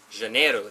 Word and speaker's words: Janeiro: CB said Rio de Janerio genrih gen Rio Janeiro that's how you say it janaina let's try